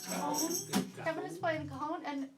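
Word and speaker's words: cajón: And I always say the name of it wrong, but I'm saying it right tonight. Cajon.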